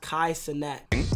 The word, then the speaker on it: Kai Cenat: to pronounce my name my name is pronounced kaisenette native new yorker kai